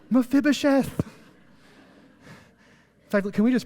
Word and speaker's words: Mephibosheth: And Mephibosheth, the son of Jonathan, son of Saul, came to David and fell on his face and paid homage. And David said, check this out. Notice the exclamation point. Mephibosheth.